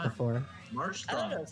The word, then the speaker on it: Marshtomp: Something about like transitioning from like sh to t bothers me. Okay. Yeah, I've heard Marsh Stomp before. Yeah, I used to pronounce it that way too. So But yeah, that was when I was much younger.